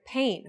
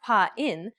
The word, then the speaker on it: pain: Take the English word pain, for example. It's not pronounced pa-in, but pain.